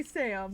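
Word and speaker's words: 싸움: i mispronounce this word it sounds like sam so i mean do it like a church song not sam um jack jack it's the long s did we kill did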